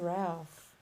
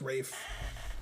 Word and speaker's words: Ralph: Farrell won some kind of award he said Ralph yeah I think it's pronounced Rafe uh are there two of them two from